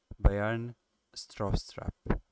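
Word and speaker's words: Bjarne Stroustrup: Kan pronounce ta'u maqaansaa BJARNE inni jedhu anileen rakkisa ture kan pronounce ta'u Bayern Straustrap kan jedhu namicha jedhamudha jechuudha.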